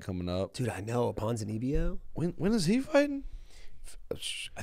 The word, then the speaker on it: Ponzinibbio: Kevin Holland versus Santiago Ponzinibbio.